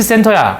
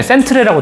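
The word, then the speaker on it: centre: 이거 영국식 표기 방법이 이래요. 제가 옛날에 캐나다 살았는데 캐나다는 약간 섞여 있어. 표기법은 영국식으로 하고 발음은 미국식으로 해.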